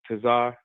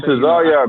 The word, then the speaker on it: Tesar: name uh but Captain Tazar. Um I've been see Yes, I've came across him um you know quite a few times on YouTube. Captain Tesar, man, say my name right.